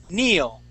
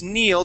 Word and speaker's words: kneel: word I would say Neel okay this word is Neil the K is silent Neil okay and how